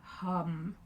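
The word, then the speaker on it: ham: And we're going to chant the Bija mantra hum. So it's spelt H-A-M.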